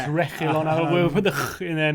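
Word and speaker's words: Reguilón: It's Reguilon.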